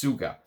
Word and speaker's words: Tsvga: house of TS Suga tsvga is how it's written but it's pronounced Suga uh there's a pink